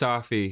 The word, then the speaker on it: Safi: It's pronounced Safi. He's of Syrian descent. It's Brian Safi, from what I understand.